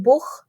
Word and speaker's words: Buch: तो जैसे बुख बुक जिसे हम कहते हैं किताब तो अब उसके स्पेलिंग जर्मन में बी यू सी एच है तो यह बुख ख की आवाज आ जाती है।